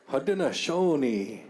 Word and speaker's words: Haudenosaunee: Haudenosaunee is the pronunciation of that. I will say that because I am Haudenosaunee.